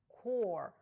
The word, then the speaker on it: Corps: Corps вимовляється без літер P та S.